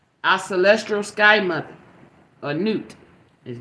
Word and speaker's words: Nut: Celestial Sky mother a newt is Newt is spelled nut n-u-t but it's pronounced Newt thank you spirit I